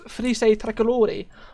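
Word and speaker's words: Frecce Tricolori: is the virtual roblox felice tricolori i don't know if i'm pronouncing that correctly is italian frise that's correct um it's the um italian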